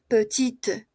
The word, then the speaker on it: petite: Tom aquí en masculino sonido se queda en la i femenino, como tiene una e sonido pasa a la t. Petit petite petit petite belle ça va très bien.